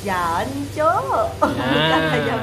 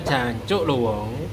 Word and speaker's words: Jancuk: yang tanya ahlinya bacanya ini kalau dibaca ayam jancok Jadi bukan jancuk jancuk Oke jadi ini ayam